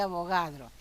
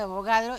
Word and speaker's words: Avogadro: como el número de abogados y abogados es este señor de acá no siempre se dice número de abogado no se dice 6,02 por 10 a las 23 se dice el número de avogadro y ya sabemos que